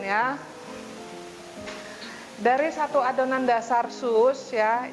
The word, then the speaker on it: choux: Dari satu adonan dasar sus, ya, ini bacanya sus, ya.